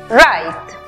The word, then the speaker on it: write: La pronunciación final para la palabra escribir es write.